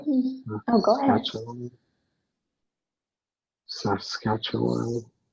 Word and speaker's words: Saskatchewan: It sounds very, very similar to the name of the Sasquatch.